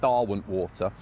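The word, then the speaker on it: Derwentwater: Earl of pronounced Darwin water says Derwin is pronounced Darwin water one of the leaders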